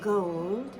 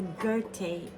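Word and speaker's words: Goethe: It's a mother of pearl and gold with touches of pink and the very famous I think it's I call it the Gerte German.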